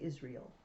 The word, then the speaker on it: Israel: spelled i-s-r-e-a-o a-e-l israel but we say israel don't we say it like you spelled it it is real it is real okay